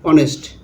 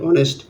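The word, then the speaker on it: honest: যেমন এখানে honour sorry অনেস্ট অনেস্ট এখানে এইচ এর কোন উচ্চারণ নেই হ্যা এসটা উচ আছে অর্থাৎ সাইলেন্ট আছে এখানে এইচ এর উচ্চারণ নেই অনেস্ট তারপরে অনার অনারের এখানে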